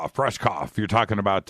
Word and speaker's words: Rushkoff: So I finally caught Monday's show with, what was it, Rosnick? Rushkrick? I'm not pronouncing his name. Rushkoff.